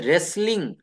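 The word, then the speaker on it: wrestling: একটা শব্দের অর্থ হচ্ছে কুস্তি এটার ইংলিশটা হচ্ছে রেসলিং রেসলিং তো এখানে আমাকে আর থেকে শুরু করতে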